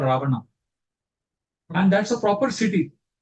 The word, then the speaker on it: Ravana: So Ravana, of course, they pronounce it Ravena, but we know that Ravana means Ravana. Rome means Ram.